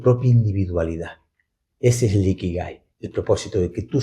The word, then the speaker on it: Ikigai: Gai en la parte final es Gai, se escribe con G, ¿no? Pero viene en romanji, pero es Kai.